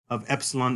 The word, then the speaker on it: epsilon: And this is very important for us because the sound of epsilon is not like a long E, but a short E, as in the word get, like that E, or pet, eh. So short E, that's the pronunciation of epsilon.